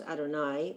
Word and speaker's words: Adonai: That would be pronounced Adonai or Hashem, but when we're saying the blessings, we would say Baruch Atah Adonai when you're actually saying it.